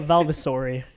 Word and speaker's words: Valvasori: We have Maya Valvasauri with us. That's how you pronounce your last name.